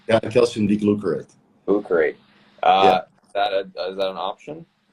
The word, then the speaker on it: calcium D-glucarate: Is calcium D-glucarate? Did I pronounce that correctly? Yeah, calcium D-glucarate.